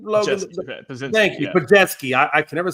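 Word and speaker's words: Podziemski: Thank you, Pajetsky. I can never say those names correctly. So it's a tough one. Yeah, Pajetsky.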